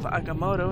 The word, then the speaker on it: Agamotto: Strange's Orb of Agamotto, and that's how it's pronounced, friends.